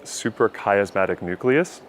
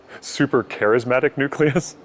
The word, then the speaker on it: suprachiasmatic nucleus: dr joe saying that the suprachiasmatic nucleus it's a organ in the brain that processes light and makes serotonin but he mispronounced it he said super charismatic nucleus and i thought in